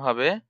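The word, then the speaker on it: ح: হা উচ্চারণ কেমন হবে, লম্বা হা উচ্চারণে গলায় শোষ করে শব্দ হবে হা, লম্বা হা।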